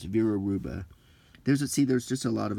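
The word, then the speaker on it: Vera Hruba: When pronouncing, drop the H, so it's Vera Ruba.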